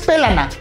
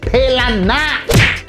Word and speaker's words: pelana: No es pelana, es pelana. Así, con acento en la A y con la pronunciación fuerte de escupir.